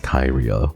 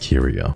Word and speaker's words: Kyrio: KIRO there are some very silly people out there who think it's pronounced CYO and for you your brain not wrinkly it's pronounced curio my nicknames are CUO